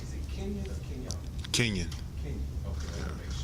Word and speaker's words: Kenyon: So can you tell me how to pronounce it? Is it Kenyon or Kenyon? Kenyon.